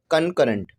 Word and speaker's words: concurrent: तो कहा जा रहा है कि right bisectors of the sides of a triangle are कनकरेंट।